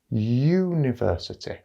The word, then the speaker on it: university: like you university and that starts with a y sound university so we don't spell